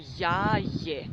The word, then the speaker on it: jaje: We pronounce it clearly in Serbian, so English Maria becomes Marija in Serbian. Jaje is egg.